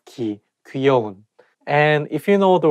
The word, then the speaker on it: 귀여운: to make Sure that you say not ke 귀여운 and If you know the word 귀염둥이 Which